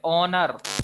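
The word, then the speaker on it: honour: यहाँ पे ऑनर, एच क्या है, साइलेंट है, इसका क्या हो गया है, स्वर्गवास।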